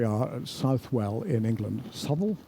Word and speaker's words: Southwell: at southwell in England souel southwell I'm not quite sure how to pronounce it it's probably pronounced souel the other thing that